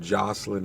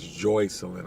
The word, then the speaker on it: Joycelyn: Instead of Jocelyn, it's Joycelyn, I believe is the correct pronunciation.